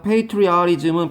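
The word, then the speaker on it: patriotism: 있는 주의 사상 애국심이고요 페이트리아리즘 페이토리아 발음 써야 되는데 이거 티즘 보통 티가 알루박에 페이트리 알이즘 페이트리아 이렇게 되겠죠 그러니까 제발 패트리어트 이렇게 하지 마 패트리어트 미사일 그러지 마 페이트로 여십니다 아까도 메이트리스라고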